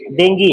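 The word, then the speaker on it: dengue: सही प्रोनाउंसिएशन क्या है उसका, डेंगी है.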